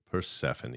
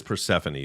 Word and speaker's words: Persephone: the hell is persephone by the way it is persephone some people think it's persephone based on how it's spelled but it's persephone so we have persephone